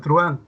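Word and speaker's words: truhán: ¿Qué pasa con truan? Similar. Acá hay una vocal cerrada y una vocal abierta. La H nada tiene que ver. Entre la vocal cerrada y abierta, la abierta suena con más fuerza. Y si es así, aquí hay un ditongo. Por tanto, la palabra truan tiene una sola sílaba.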